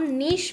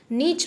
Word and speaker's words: niche: देखिए, इसका नाम नीश मार्केटिंग, इसको हम प्रोनाउंस करते हैं नीश marketing. We don't pronounce it एज नीच मार्केटिंग।